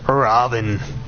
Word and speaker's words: Ravana: Fun fact, Ravana, even though his name is spelled Ravana, is just pronounced Raven. There is no last A.